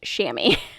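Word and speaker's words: chamois: the word right um but it's pronounced shammy so you want a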